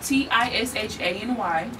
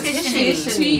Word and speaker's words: Tishany: Oh, my name Tishany. Okay. And it's not Tishany. No, Tishany. It's Tishany. Yeah. Oh, Tishany.